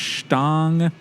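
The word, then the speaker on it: Stange: not pints they're like is it pronounced stang those I believe that's right teeny tiny it's like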